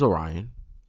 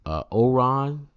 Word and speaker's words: Orion: I've heard Orion, Oron, Ori, Orion. I've heard Oreo. I've heard Orin. My personal favorite, Rion. Just Rion. Just forgot the O and just put Rion.